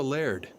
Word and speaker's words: laird: I'm the laird of this castle. What's a laird? Oh, that's how we Scotsmen pronounce the word lord.